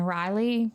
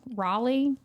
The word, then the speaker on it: Raleigh: And then he was trans transferred to Central Prison in Riley. Raleigh. Raleigh. Say it right. Raleigh. Well, I have Riley and then Raleigh. It's It's similar.